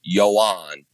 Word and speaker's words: Joan: he it everyone needs to know it is Yoan.